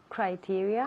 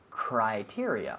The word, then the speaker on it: criteria: Spanish criteria in English criteria cry yes be careful with the pronunciation here I like oh I I criteria we don't say Cree we say cry criteria one more time criteria